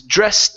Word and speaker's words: dressed: here instead of dressed this is an ed ending it'll be pronounced like a t this is dressed in a suit dressed